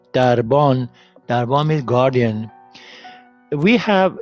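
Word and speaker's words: دربان: Darban. Darban means guardian. We have this, which is pronounced.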